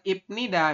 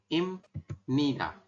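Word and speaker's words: 입니다: jadi bunyi m ya Jadi dibacanya itu bukan ipnida Memang secara tulisan kan inida Tapi kita membacanya adalah im mana Di bacanya Run Im ni nah pemenggalannya seperti ini Im Nida seperti itu Sampai sini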